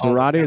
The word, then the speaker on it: Zarate: Those are the two that I use for That's Zarate that rhymes and spelled like karate. With a Z. With a Z. With a Z. That's true. That'd be confusing if you tried to say Zarate with a K.